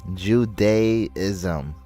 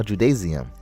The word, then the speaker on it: Judaism: I can't believe I'm think I'm pronounced love or love from Pakistan. You're not reading, bro. Judaism. I just said that. I'm saying that right now. Judaism.